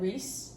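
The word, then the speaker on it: Rhys: also I would like the first time I read it I was like rice and and then I saw Reese I was like rice doesn't make sense we're going with Reese I was I was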